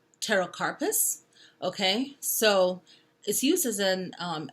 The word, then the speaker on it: pterocarpus: to make later on the next one starts with the letter P but it's pronounced pterocarpus okay so this uses